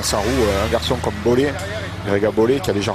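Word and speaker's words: Bole: Tout le monde dit Bollet. J'ai dit Bollet, je le connais pas, le garçon. Donc, c'est Greg Abel. On dit Bollet, alors ouais, on va dire Bollet.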